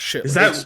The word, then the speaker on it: chitterlings: It's spelled chitterlings, but nobody calls that. It's chitlins.